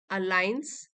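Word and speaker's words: align: And when the moment अलाइन और जब भी जो आपका समय आएगा वह अलाइन करेगा। मींस मेल खाएगा। जी साइलेंट है इसमें।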